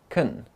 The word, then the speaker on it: can: in fluent everyday English when the modal auxiliary can is unstressed it's pronunciation changes to Kun I can speak four